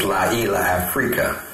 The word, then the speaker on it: Llaila Africa: His name is Brother Llaila Africa. Do you pronounce that Africa? As Llaila Africa.